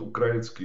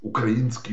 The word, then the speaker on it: украинский: потому что, смотрите, народ украинский, он, так сказать, украинский, по-моему, сейчас надо говорить, да, надо на Украину делать ударение, на украинский, значит, ставит на дыбы.